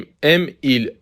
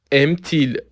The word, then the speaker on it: aime-t-il: نمیگیم aime il le français، میگیم aime-t-il le français. به تلفظ دقت کنید.